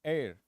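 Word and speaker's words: heir: sounding the beginning of this word sound is air I or h t okay this is again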